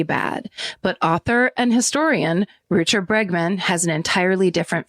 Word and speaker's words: Rutger: Even though his name is spelled Rutger, I watch people pronounce it Rutger.